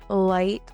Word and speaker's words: light: Silent gh appears in words like though, light, night, and bought. In modern English, gh makes no sound at all.